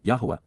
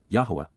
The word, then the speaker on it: Yahowah: For how long, Adma, until when will the eternal witness and restoring testimony of Yahwa, Yahwa, the proper pronunciation of the name of Aloah, God, as directed in his Torah, teaching regarding his higher existence